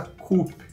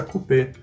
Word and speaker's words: coupe: de taça coupe, porque em francês coupe significa copa. E coupé significa cortado, ou ainda o nome de um carro típico dos anos 60, 70, 80. E nada tem a ver com taças e copos, o coupé. Então, o termo certo de se falar é taça coupe.